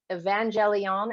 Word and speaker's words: evangelion: Well, and did you know that word gospel, it's I'm not going to pronounce it right, but in the Aramaic writings, it's like evangelion.